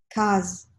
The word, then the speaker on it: case: Case. Voilà, OK. On va les répéter. Donc, c'est vraiment la distinction entre le s, hein, le premier, et le z, OK.